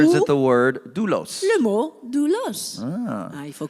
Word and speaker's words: doulos: Okay, the word is doulos. Le mot doulos en grec. So D-O-U-L-O-S. Ça se Okay, prononce comme ça. doulos.